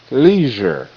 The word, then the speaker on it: leisure: Leisure. L E L Z R J leisure. Leisure. E is silent.